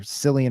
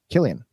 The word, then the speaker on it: Cillian: I was calling the star of 28 Days Later Cillian Murphy for years before somebody corrected me. How do you say that one? Killian.